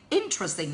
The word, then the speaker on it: interesting: a target is interesting interesting the stress is given on the very first one so you guys have to say interesting now say that again